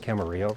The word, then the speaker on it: Camarillo: flight to, I'm assuming that that's pronounced Camarillo, since it's 2 L's.